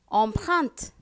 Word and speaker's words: empreinte: Empreinte, E-M-P-R-E-I-N-T-E, empreinte. Whenever you see E-L or E-L-L-E, it is pronounced as Y.